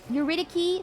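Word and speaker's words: Eurydice: Um um it's pronounced a hard C like Dicki. Uritici.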